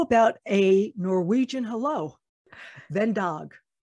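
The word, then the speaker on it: God dag: Ven dog. Say again? Ven dog. It's spelled Vendag. F-I-N-D-A-G. And it's pronounced Vendag, which Vendag. Means good day.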